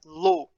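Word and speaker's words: לא: Essa segunda palavrinha aí, que vocês estão vendo na tela, se pronuncia lo.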